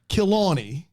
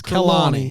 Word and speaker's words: Kilani: In parentheses, KILL-AWN-EE. Kilani. Kilani. Talmach. But it's spelled Kurlani, but it's Kilani. And it's pronounced Kilani.